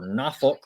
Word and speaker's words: Norfolk: Troy travels to Norfolk or Nafolk if you locals say it.